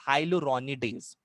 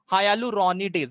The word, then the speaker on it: hyaluronidase: The first hydrolytic enzyme is called as हाइलुरोनिडेज। हाइलुरोनिडेज, हाइलुरोनिडेज का spelling क्या है?